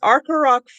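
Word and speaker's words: Arcoroc: And it's the name I have a hard time pronouncing. Arcaroc, it's Arcaroc, France, is where it's made.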